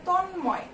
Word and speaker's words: তন্ময়: যেমন দেখো দেয়া আছে যুগ্ম, দেয়া আছে তন্ময়, এই যে দন্ত নয়ের সঙ্গে ম যোগ আছে এটা হলো তন্ময় উচ্চারণ, এবং এখানে দেখো যুগ্ম